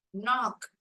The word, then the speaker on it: knock: நாக் KNOCK K is silent letter.